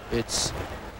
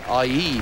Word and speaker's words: Ai: I keep wanting to say Ai because it's spelled AI, and it seems to me that it should be Ai, but it's not. It's I. It's I.